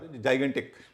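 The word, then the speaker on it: gigantic: जाइगेंटिक, जाइगेंटिक बहुत विशाल, उसमें जी आई, जी ए एन, टी आई सी, पहले जो जी है उसके बाद आई है तो ज उच्चारण हो रहा है, क्योंकि मैंने कहा आई,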